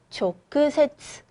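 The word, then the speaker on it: 直接: 조크세츠, 이 직자를 조크라고 읽는 거 꼭 기억하고 넘어갑니다.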